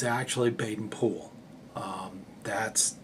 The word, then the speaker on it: Baden-Powell: the Americanized pronunciation of Baden Powell it's actually Baden pool um that's that's actually how they pronounce it in England that's how he actually